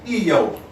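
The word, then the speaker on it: איוב: Job is pronounced in the Semitic tongue as Eo.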